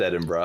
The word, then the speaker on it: Edinburgh: wrong Ed Ed yeah I did anyway it's pronounced Edinburgh I know that because I've been there and